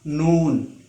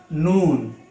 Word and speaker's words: noon: one dot inside this shape it will become noon its pronunciation in english is n double o and noon it is a light letter so it can